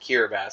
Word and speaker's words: Kiribati: I know it's spelled Kiribati, but it's pronounced Kiribati, so yeah.